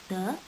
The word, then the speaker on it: the: द short form में है, दी long form में है। दी लॉन्ग फॉर्म में तब प्रोनाउंस होगा अगर ये वॉवल से पहले इस्तेमाल किया जाएगा। दी अम्ब्रेला, ठीक है।